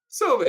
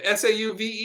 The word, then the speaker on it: Sauve: Sauve. This Canadian teaching you guys how to pronounce. Is that what it is? How do you pronounce it? Sauve. S-A-U-V-E.